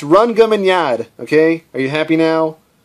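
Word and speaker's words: Rhongomyniad: it's just funny or two all right it's run gum in yard okay are you happy now if you guys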